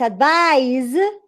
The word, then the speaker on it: advise: that yes yes good so the verb it's advised and the noun needs advice right yes yes you